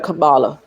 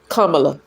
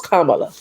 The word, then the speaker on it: Kamala: in office instead of Camala. Kamala. I do want to say her name right. Even though I did not want her to be the president, I do want to say her name, right? Her name is Kamla.